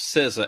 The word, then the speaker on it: SZA: SZA. I was expecting. That's how you pronounce that? Yeah. Okay. Like RZA and Jizza from the Wu-Tang.